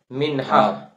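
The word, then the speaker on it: منحہ: تو ہم اس کو اردو میں پڑھیں گے منہا، میم نون بڑی ہے اور چھوٹی ہے، چونکہ عربی میں منحتن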